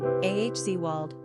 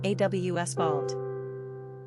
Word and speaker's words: Oswald: Pronunciation, Ahzwald, German, Awswald. Simple meaning, God's rule, divine power.